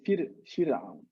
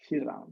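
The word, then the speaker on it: فرعون: His name is pronounced not with emphasis because he is an evildoer. He has done so much evil deeds, and Allah has made him low, both in the world and in the hereafter. So when we pronounce his name, it's not like Maryam. We say Fir'aun. Fir'aun. He's low. He's not emphasized. The ra in Fir'aun is not Fir'aun.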